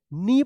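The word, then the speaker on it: knee: नी देखिए यहां पे के एन डबल ई तो किनी मत पढ़िएगा इसको क्या पढ़ा जाएगा नी पढ़े जाएगा के एन से पहले के है तो के साइलेंट रहेगा ठीक है देखिए यहां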